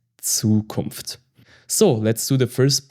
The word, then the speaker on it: Zukunft: Zukunft. Zukunft. This is the future. So it sounds like TS, Zukunft.